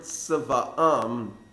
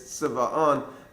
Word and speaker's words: Tziva'am: brings with the word Tziva'am, and says that you shouldn't read it as Tziva'an as opposed to Tziviyunam. A slight change in spelling, in pronunciation.